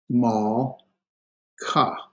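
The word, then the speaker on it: מלכה: Remember our rule, if it's preceded by a short vowel, the Shava is silent. So this closes the syllable. And this would be mal. There's no sound for the Shava, so it's just mal, mal, ka.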